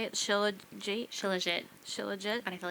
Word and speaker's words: shilajit: Yeah, and then I take chalk, which is a shilajit and ashwagandha. Is that how you say it? Shilajit?